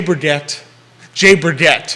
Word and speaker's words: Berget: Charlottesville, and then I think I might have pronounced it wrong. It's Jay Berget. Oh, you said it with a I was French doing a little accent fancy. before. I was doing a little too Berget, fancy on it, but it's Jay Berget, owner